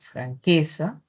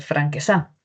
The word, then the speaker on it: franqueza: identificamos la sílaba tónica, pruebe en cada una de las sílabas, ¿no? Si fuese, por ejemplo, en la última, podría ser franquesá. Franques no es así, ¿cierto? O si fuesen la primera podría ser franquesa. Franquesa tampoco. Franquesa tampoco.